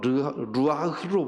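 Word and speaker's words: רוּחַ: 이 마음이라고 하는 원어가 히브리 말로 루아흐로 번역되어 있어요. 루아흐 이렇게 발음해야 돼요.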